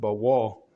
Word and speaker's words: Baal: Baal, not the Satan Baal, but it's pronounced Baal.